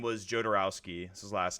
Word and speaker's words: Jodorowsky: it's called jodorowsky's Dune j d o r o wsk y I think is how you pronounce it jarowski um it's a document